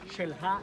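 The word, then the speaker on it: Xel-Há: Every time you see the letter X and that word belongs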